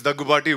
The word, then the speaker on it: Daggubati: Ladies and gentlemen, please give it up for Rana Daggubati. ताली बजाओ यार. Pronounced it correctly or not? Finally, after 13 years, they got my name right. It's Daggubati.